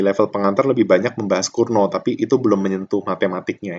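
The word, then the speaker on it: Cournot: kunci adalah Kurno itu, ini nyebutnya Kurno ya, bukan bukan Curnot ya, apa T-nya nggak dibaca, jadi bacanya Kurno.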